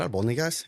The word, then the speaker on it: albóndigas: And I open the pot and I open it and I'm like, babe, is that albóndigas?